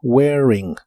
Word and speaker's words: wearing: cosas que traes puestas la a de esta palabra no se pronuncia solo wearing wearing glasses wearing glasses y